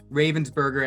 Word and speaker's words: Ravensburger: It is not Ravensburger as we want to pronounce it in English.